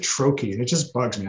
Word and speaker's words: troche: troche just annoys me it's a french word it should be trosh and here in the us we pronounce it troche and it just bugs